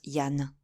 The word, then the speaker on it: Jean: d'un autre appelé Jean un nom que les Bretons prononcent Yann qui ne venait pas